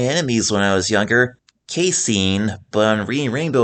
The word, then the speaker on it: Casein: And this player right here was actually one of my enemies when I was younger, Caseine. But on reading Rainbow, it's pronounced Cassen.